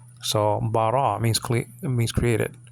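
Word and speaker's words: בָּרָא: So that's ra, and then the aleph is silent there. So bara means created.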